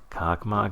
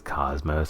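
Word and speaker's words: Космос: Cockmok is pronounced as cosmos, by the way. It's a Slavic language. Not sure which one, but probably Russian.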